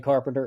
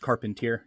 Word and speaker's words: Carpentier: For listeners meeting you for the first time, who is Carpenter, and what do you want people to take away from this conversation? So just a quick correction. Last name's pronounced Carpentier. Just Carpentier, so we're my bad.